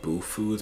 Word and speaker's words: Bhu Foods: link in my description I believe it's pronounced boo foods but it's spelled bhu foods their bars are absolutely